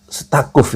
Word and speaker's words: Staquf: Tetapi menurut Adi Masardi itu Yahya Sakuf, jadi bacanya apa sih kalau itu S-nya di depan STAQUF, bacanya Sakuf ya.